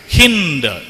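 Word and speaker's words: Hind: சின்ட் river அது வந்து Persian லாங்குவேஜ்ல அந்த ச என்கின்ற அந்த ஒலியை அவர்கள் ஹ என்று தான் உச்சரித்தார்கள் ஹிந்த் சின்ட் பிகேம் ஹின்ட் அப்போ அந்த ஹிந்த் இந்தியா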